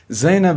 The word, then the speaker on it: Zeinab: His name is Mohammed Abu Zeinab. Did I pronounce it right? Zainab is preferred, Zainab.